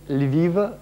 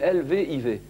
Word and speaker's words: Lviv: Lviv, Ça s'écrit L-V-I-V.